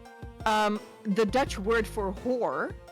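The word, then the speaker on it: hoor: There's a word in Dutch, it's spelled H-O-O-R. You pronounce it whore.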